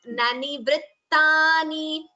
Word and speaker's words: निवृत्तानि: It is nani vrittani. Br and two ths have to be heard.